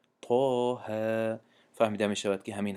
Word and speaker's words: طه: ببینید در همینجا حرف تا میگیم، نمیگیم اتقه، نمیگیم کو طه میگیم، طه.